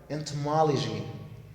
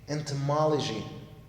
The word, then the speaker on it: entomology: waste now move to number eight the word entomology entomology entomology that's the pronunciation of the word just on how I